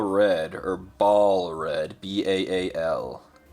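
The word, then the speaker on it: Baal: The first color was Contrast Black Legion, and this color is Contrast Bale Red, or Ball Red, B-A-A-L. Diablo says that Bale, but I've always pronounced it Ball, with like a long A, because that just makes sense.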